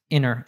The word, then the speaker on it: interrupt: That's a word with an NT, and it's in the middle of a word, the middle of a syllable. So in that case, we drop the T altogether. So it's inner. It almost sounds like a double N.